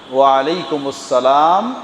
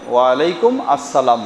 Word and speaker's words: ওয়া আলাইকুমুস সালাম: ওয়া আলাইকুমুস সালাম একসাথেই উচ্চারণ করলে এভাবেই হবে, ওয়া আলাইকুম আসসালাম নয়, ওয়া আলাইকুমুস সালাম ওয়া রাহমাতুল্লাহ।